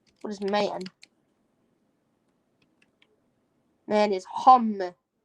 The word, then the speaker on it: homme: Man is homme. Homme. Homme. Homme. It's pronounced homme.